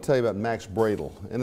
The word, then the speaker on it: Brödel: years I want to tell you about Max bradel and it's pronounced bradel M uml over the O uh he was